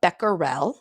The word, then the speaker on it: becquerel: there's other things as well so there's a becquerel that's how you pronounce it it's the unit that we use